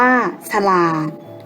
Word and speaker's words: ฉลาด: สังเกต กัน นะ คะ เวลา อ่าน จะ อ่าน เหมือน มี หอ หีบ อยู่ ด้วย เช่น ผลิต อ่าน ว่า ผลิต Siam อ่าน ว่า สยาม ฉลาด อ่าน ว่า ฉลาด สนุก อ่าน ว่า สนุก